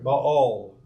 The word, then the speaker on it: Baal: You see this Ba-El. Okay, Baal, as we pronounce it in English.